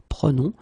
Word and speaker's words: prenons: Keep in mind that you should pronounce it prenons.